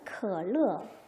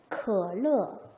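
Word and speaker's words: 可乐: 자, 삼성과 사성이면 앞에 있는 삼성은 어떻게 한다? 아래로 내려가기만 하는 반삼성의 소리를 내야 한다. 해볼게요. 可乐, 可乐, 可乐.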